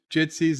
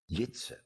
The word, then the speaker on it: Jitse: Joseph Pedrick says, Bird of Prey, I knew we were all butchering Jitsy's name, so here's the link, the correct pronunciation. Oh, well, I can't promise I'm going to pronounce it correctly after all these time. Jitsy pronunciation in Dutch.